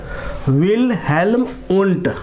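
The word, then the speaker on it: Wilhelm Wundt: मैं नाम लिख देता हूँ, विल्हेल्म, आधा लो है। ठीक है, विल्हेल्म, यहाँ पर भी आधा लो ही आएगा, मैंने पूरा लो दे दिया। विल्हेल्म वुंट।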